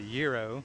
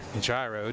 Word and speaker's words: gyro: But right next to that is the gyro, or gyro, depending on where you're from, how you want to pronounce it.